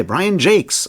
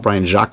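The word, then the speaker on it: Brian Jacques: reading red wall by Brian Jakes which is apparently how you pronounce that and not Brian Jac which is what I would say looking at the spelling which is of course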